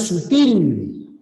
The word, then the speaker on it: sutil: chicos en la falla la palabra aquí le han puesto tilde como si fuera esdrújula pero la palabra es aguda lleva tilde en la segunda y en la B la palabra es sutil aguda que termine en l no se tilda lo que pasa es